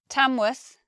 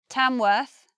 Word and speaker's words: Tamworth: Worth becomes 2 pronunciations, either worth, similar to muth, or worth, but not a long just a worth. Tamworth, Farnworth, Bedworth. First pronunciation, worth. Second pronunciation now, Tamworth, Farnworth, Bedworth. Slightly different.